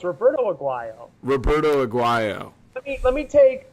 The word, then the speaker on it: Roberto Aguayo: Okay, first of all, it's Roberto Aguayo.